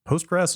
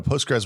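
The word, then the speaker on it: Postgres: just looked it up I thought it was post post grass is that how you say that no no no postres would be would replace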